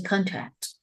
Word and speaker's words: contract: I think contract Contract, don't say contract. The contract. We stress the very first syllable.